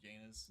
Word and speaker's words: Janus: Or how is it supposed to be pronounced? Janus. Yeah, everyone just calls him Janus.